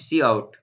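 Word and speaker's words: cout: Line 8 पे हमने क्या बताया सी आउट प्रोनाउंस्ड सी आउट।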